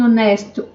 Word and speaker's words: honest: An honest man, um homem honesto, honest, honest. An heir, um herdeiro, an heir, um herdeiro. Então, são palavras que o H não tem som, então eu coloco an.